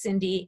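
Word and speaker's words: Cyndi: just look it up like it's cynthia but it's cindy and my website has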